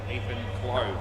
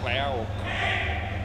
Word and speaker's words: Clove: Just got to be very careful how I try to get that pronunciation right. Ethan Clove. Play ball. Not Clow or clause or anything like that.